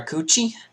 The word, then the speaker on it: Keuchel: need to slow down ok coochie and that's how you say his name or teens did you